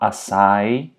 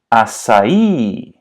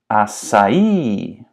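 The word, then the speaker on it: açaí: in America says it it's not aai it's aai aai and something you should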